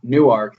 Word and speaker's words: Newark: very significant to me they're very uh particular about the way they pronounce new newark they say newark newark like newark new jersey oh of course